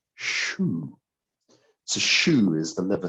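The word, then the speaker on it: 嘘: So we'll also stimulate the liver chi by saying shu. So shu is the liver sound, like shoe that you put on your foot, but it's actually XU in Chinese, and that's pronounced SHU.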